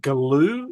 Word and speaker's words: Galoo: mind and then seeing the story of the Galoo.